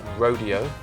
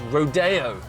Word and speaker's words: Rodeo: Now, um I would have thought you'd pronounce it Rodeo, but I'm reliably informed it's Rodeo.